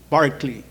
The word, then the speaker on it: Berkeley: this song barley pron pronunciation Berkeley so Berkeley is the American pronunciation the the real one in British is uh Barkley anyway invol concerts people